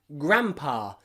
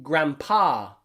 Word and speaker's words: grandpa: Same in grandpa and grandma. We don't say grandpa because it's too difficult.